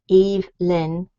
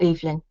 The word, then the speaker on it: Evelyn: So it's Evelyn. You can pronounce it either Evelyn or Evelyn.